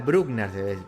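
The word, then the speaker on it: Bruckner: le digo s léanlo Pascal brugner br brugner de ser brugner Pascal brugner pronuncia porque es francés vivir en zapatillas iones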